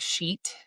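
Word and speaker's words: Scheat: A Venus is conjunct the fixed star shiat. So some people pronounce it like sheet uh which sounds very close to the naughty word.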